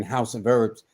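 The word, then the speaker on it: Hause of Herbz: We deceive for people that they hear in House of Herbs, but it's the way it's spelled, like synonym, which the word sounds the same but spelled different.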